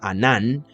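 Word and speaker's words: ענן: Esta palabra significa o se pronunciará Anán, ¿sí?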